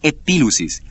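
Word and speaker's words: epilusis: interpretación la palabra interpretación es la palabra griega epil usis que se escribe e p i l u s i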